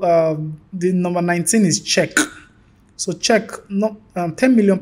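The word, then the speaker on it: Czech: so difficult to learn pronouncing check word is a nightmare for English users English speakers people to pronounce the name she you know they spelled like c z e c h like I don't want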